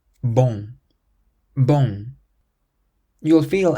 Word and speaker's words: bon: The word bon ends in the letter n but you don't pronounce it bon. It's more like boom boom. The sound on the end is what's known as a nasal sound.